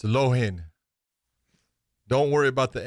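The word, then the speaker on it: Loughnane: Lonan. How do you say it? Lonan. Come on, baby! You can do better than that. No, 2 + 2. Lohan. So Lohan. Okay.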